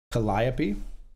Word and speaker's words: Calliope: It's pronounced Calliope.